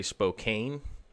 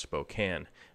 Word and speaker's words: Spokane: eastern half and people not from here say Spokane always they always say it that way but it is pronounced Spokane it's basically the best way to find out